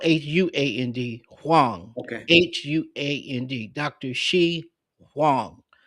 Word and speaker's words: Huang: It's spelled Huand. Huang.